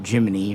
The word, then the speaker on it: Gemini: And what they were going to do was basically copy the Gemini, or Gemini if you want to say it like NASA did, capsule.